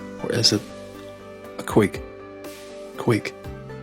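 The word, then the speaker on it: cúig: Quig. The correct answer is a quig. Quig. You may hear it as being pronounced quig, quig, or quig.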